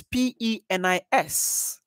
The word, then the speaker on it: penis: second syllable very correct the first level is not pay although you got the stress we should raise the pitch yeah so it's penis so you go pee yeah penis says yeah